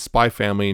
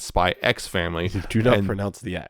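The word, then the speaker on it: Spy × Family: is yes it is spy family not spy x family do not pronounce the x you're not pronouncing x and now having said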